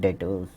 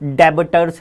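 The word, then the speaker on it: debtors: तो जिन लोगों को आपने उधार माल बेचा उनको हम कहते हैं डेटर्स। बी साइलेंट है, बी साइलेंट है। मैं 11th में पढ़ता था डेबिटर्स, डेबिटर्स, डेबिटर्स, डेबिटर नहीं है, डेटर्स पढ़ा जाता है, बी साइलेंट, ठीक है ना।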